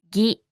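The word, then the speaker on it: ぎ: Ki with a dakuten is pronounced as gi, ki, gi, ki, gi.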